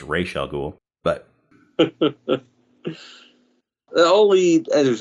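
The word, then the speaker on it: Ra's al Ghul: Batman Begins yes AKA razal ghoul or how it's actually pronounced Rael ghoul but that all lead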